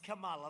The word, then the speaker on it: Kamala: It's Kamala, like a comma, Kamala.